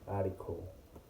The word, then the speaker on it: article: And article is writing with a T but is pronounced as a D, article.